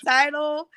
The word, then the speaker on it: Tidal: I think I say it wrong. Title. Title. It's Oh, title. Like a tidal wave. Okay. Oh yeah, like a tidal wave. Yeah. Oh yeah. So I got you. Tidal.